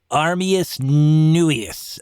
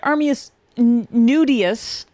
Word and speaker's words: Armius Nuius: Armius Nuius, I believe, was the exact parlance. Yes, except you mispronounced it slightly. Very slightly. Just a little bit. And your clothes, you pronounced it Armius Nudius.